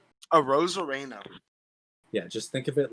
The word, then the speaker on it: Arozarena: Arozarena. Yeah, just think of it like Dude's been on fire. Think about it as like a rose, a rain, a rain, a Rosarena. Randy Arozarena as your World Series MVP.